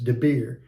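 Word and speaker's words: דביר: Debir is D-I-B-B-E-R, and it's more like a two-way conversation, as opposed to just like an oracle pronounced by God.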